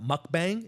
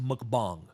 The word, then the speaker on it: mukbang: he's doing mukbang okay some people call it mukbang it's pronounced mukbang okay and and he's